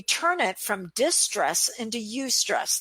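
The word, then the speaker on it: eustress: it from distress into you stress that is spelled EU in the word stress which is actually the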